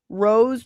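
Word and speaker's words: Rao's: And also for pizza sauce, they have Rose Pizza, or it's spelled RAO''S.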